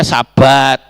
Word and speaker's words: sabat: kemudian yang atas itu s h b t bacanya Sabat kan begitu Bapak Ibu dan